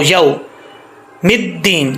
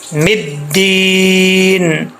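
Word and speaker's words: الدين: زبر واؤ، یو، مدین، یہاں پہ لوگ مسٹیک کرتے ہیں، میم کو دال کے ساتھ جب ملاتے ہیں تو وہ پڑھتے ہیں مدین، یومدین، یومدین، ایسا نہیں پڑھنا، دال کے اوپر شد ہے، میم زیر دال مد، دال زیر یا دی، مدین، مالکی یوم الدین، مدین،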